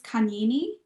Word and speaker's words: Kanyini: Then there is Kanini. That's spelled Kanyini, and it's a beautiful documentary.